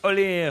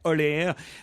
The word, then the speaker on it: Olear: J'espère que je n'écorche pas le nom de l'auteur, mais je pense qu'on doit dire Greg Ollier. Ça s'écrit O-L-E-A-R. Ollier. Oui, Ollier. Oui, Ollier, comme le roi Lear.